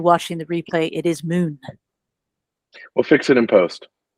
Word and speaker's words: MuKn: The K is silent. So for those of you on the call, it's not MuKn, it's MuKn. And for those of you watching the replay, it is MuKn.